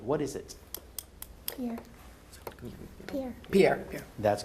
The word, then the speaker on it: Pierre: The capital of South Dakota is spelled like a French masculine name, but it's pronounced differently. What is it? Pierre.